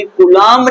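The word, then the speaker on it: Coulomb: डी सी ओ यू एल ओ एम बी कूलम ने दिया था। चार्ल्स अगस्टिन डी कुलाम ने दिया था।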